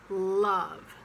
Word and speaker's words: love: jung but it's young and love sometimes pronounced love live love but it's love again very relaxed ah love and the word